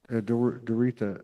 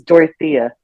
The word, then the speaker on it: Dorothea: Doretha, right? We were talking. How you say my name is Dorothea. Dorothea.